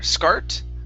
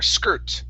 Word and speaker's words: skirt: the word skirt first instead of scar scart with an r sound use an er skirt skirt it's it's good there